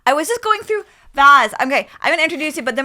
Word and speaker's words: Vas: It's Vas.